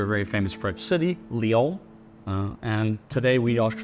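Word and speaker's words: Lyon: named it after a very famous French city Leo uh and today we Al know that as lions because that's how we mispronounce many of the French names here in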